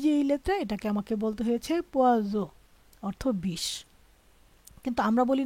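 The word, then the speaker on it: poison: দেখুন এখানে এই যে এই শব্দটা আছে না, এটা হলো পে ও ই এস ও এন, উচ্চারণ হয়েছে পোয়া জো। এই যে এখানে হয়েছে জো, কেন জো হয়েছে? এস এর আগে একটা ভয়েল এবং পরে একটা ভয়েল।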